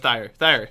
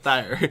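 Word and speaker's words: Thire: They have Thayer, why was Jack, I pronouncing and Rex. Dyer then? But Thayer. Not Dyer.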